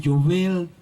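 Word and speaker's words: יובל: con la otra amén el jubileo en hebreo se pronuncia jovel que significa trompeta si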